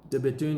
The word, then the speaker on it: De Bethune: De Bethune are cranking out really, really nice watches. The B-E-T-H-U-N-E, don't say the H.